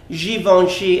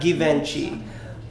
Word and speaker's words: Givenchy: fashion house of Geelong she yes darling it's pronounced Givenchy and not Givenchy for those of you that keep on pronouncing